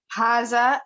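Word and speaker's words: هذا: Haza is pronounced haza. But it is written without the first alif.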